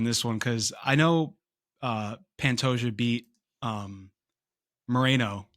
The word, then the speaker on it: Pantoja: Uh, God, I can't even pronounce these guys' names. Is it Pantoja? Is Yeah, that his name? Pantoja.